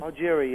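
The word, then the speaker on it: Augeri: with Steve Al Algeria is that how you pronounce it Algeria yeah Algeria and he joined was it the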